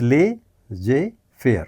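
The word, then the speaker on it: laissez-faire: यह ला जे फेयर है, इसे एल ए I double S ई जेड एफ ए आई आर ई लिखा जाता है, ई इसके बाद भी आएगा।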